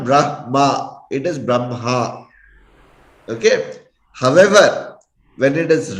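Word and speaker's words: ब्रह्म: See, we pronounce it as Brahma. Hakara comes in the end. All right. That is the right way of pronouncing Brahma. It is not Brahma. It is Brahma.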